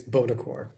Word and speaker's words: Buonocore: Our guest today is none other than I'm sorry, how do you pronounce that name? That's okay, Matthew. It's Bonaccorsi. Bonaccorsi?